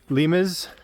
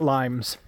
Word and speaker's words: Limes: top of the gate it's pronounced uh lies or lies lias not limes a silly Americans thought it was just limes still think it's limes